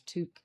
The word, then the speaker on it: Took: What we discovered when we discovered that the proper pronunciation is took, I did a little